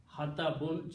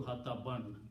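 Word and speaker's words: حطبا: So whenever it becomes a maf'ul, hatabun change to hataban, 2 fathas. Okay. And when you stop, you pronounce hataba. Hataba, not hatab.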